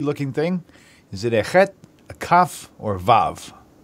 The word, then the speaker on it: chet: Is it a chet, a kaf, or a vav? Chet, and that chet, you pronounce it like you're like it's like a hissing cat, like.